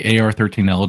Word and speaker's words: AR-13L: Ariel or or is AR how do you pronounce Sure. So we say AR13L just because uh the name Ariel is actually copyrighted by Disney.